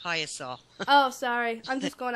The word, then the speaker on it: Piasa: I keep calling it Piasa, and it's actually pronounced Piasa.